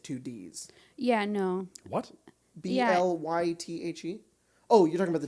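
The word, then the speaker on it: Blaidd: a wolf guy and his name is blythe but it's spelled b-l-a-i-d-d so it's like blade but it's blyth yeah whoa yeah yeah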